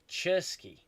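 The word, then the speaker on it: Czerski: name only a bit uh CZ is pronounced uh as in check ah so it's uh cherski ah yeah the C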